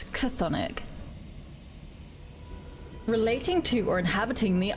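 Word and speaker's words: chthonic: on it because I think how you would pronounce it Sonic oh it's a hard it's cathonic relating to or inhabiting the underworld that is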